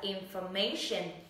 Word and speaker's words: information: Vậy từ này sẽ là information.